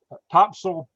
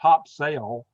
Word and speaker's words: Topsail: Topsail, they call it Topsail, but it's spelled Topsail, but the locals call it Topsail Beach.